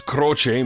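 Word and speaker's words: Croce: Well, so the way it's pronounced, it's Crochce, meaning cross or the sign of the cross.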